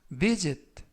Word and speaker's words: visit: 표현이 되겠습니다 2번 표현은 visit visit visit라고 발음하시면 되겠고요 이때 S 발음은 스가 아니라 즈 품사는 동사 뜻은 방문하다라는